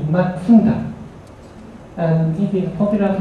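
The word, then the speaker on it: 松田: Mazda, exactly speaking, not Mazda, but its Japanese pronunciation is Matsuda.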